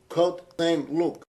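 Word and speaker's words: Côte Saint-Luc: of synagogues in a suburb of Montreal called Cote St. This is the closest we can come to its proper pronunciation.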